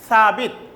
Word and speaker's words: Thabit: Student, this will be Tawid, but the Arabic pronunciation is Thabit.